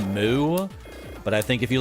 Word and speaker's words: MW: It's pronounced Moo.